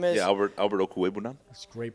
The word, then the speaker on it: Okwuegbunam: Yeah, Albert Okwuegbunam. That's great pronunciation.